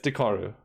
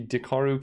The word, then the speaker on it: Dekkaru: is yeah kind of a problem yeah it's dakaru we want to credit the right person it is the dakaru cube I just said it wrong because I'm